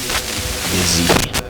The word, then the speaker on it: Yazid: Yazid. Yazid. Yeah, it's like Naveen, but with a Y.